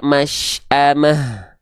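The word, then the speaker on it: مشأمة: kita baca masamah masamah pastikan teman-teman H besar ini ketika sukun ya banyak orang melafalkannya khofa khofa tuh apa samar Jangan sampai kita melafalkannya khofa samar Apanya yang samar nafas dan suaranya Jangan sampai khofa ya jadinya gini nafasnya enggak jelas dan suaranya ya masamah Mana nafas dan suaranya pastikan dia jelas masamah bisa dibedakan enggak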